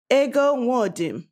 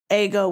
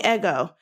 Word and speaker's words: Ego: able to say that so the way they would is a go wodem now even my friends from home in baltimore they they don't say like that's not they don't pronounce the a they don't even pronounce the letter a that way like uh so they would they say my name they call me eggo because ago would never